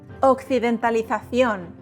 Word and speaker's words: Occidentalización: How do you pronounce this word? Occidentalización.